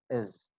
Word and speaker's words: his: His will be pronounced as is.